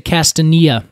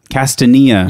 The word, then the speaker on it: Castanea: love how you say it I would say castania castania yes okay castania dentata dentata meaning that it